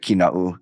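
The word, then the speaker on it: Kīnaʻu: Kinau. I'm gonna get cut off of Kinau. Like, no, it's actually Kina'u.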